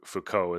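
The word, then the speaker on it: Foucault: wrong it was as you said it f Fuko is the proper uh pronunciation um well he has so many letters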